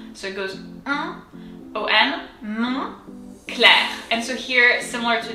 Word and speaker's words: Moncler: So if we look at the first syllable, we have mon. So on in French is un. So it goes un, on, mon, clair.